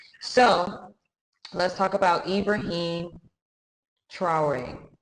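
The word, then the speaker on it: Traoré: So let's talk about Ibrahim Traore. I believe that's how you say his name. It's spelled Traore. I'm pretty sure it's more French.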